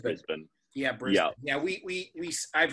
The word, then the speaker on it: Brisbane: city is brisbane yeah yeah often heard as brisbane i guess i i often hear that said but it's uh it's pronounced brisbane yeah yeah we we i've heard brisbane probably